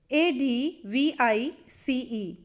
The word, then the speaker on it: advice: Advise, ADVICE, here C is pronounced as S, sir.